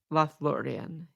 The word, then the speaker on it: Lothlórien: chapter 7 okay so let me get that pronunciation one more time lloran is that how you say it lth laan yes okay cool I was worried about thatan